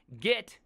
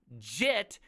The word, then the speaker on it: Git: So first off, you've been saying it wrong this entire time. Git is an insult. JIT is a version control system.